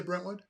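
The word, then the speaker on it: Brentwood: Fitness in in uh am I saying it wrong I say brenwood no brenwood yeah yeah come come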